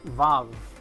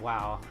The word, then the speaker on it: Vav: It's pronounced Vav instead of wow.